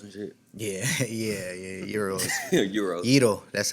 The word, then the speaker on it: gyros: Yito, that's how it's pronounced.